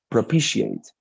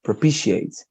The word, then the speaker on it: propitiate: here the the pronunciation it's propitiate pro p she ate like this propitiate i see propitiate okay